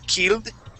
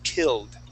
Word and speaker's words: killed: word is killed okay let's use this short i sound you had said killed using an e a long e so let's say killed try that killed there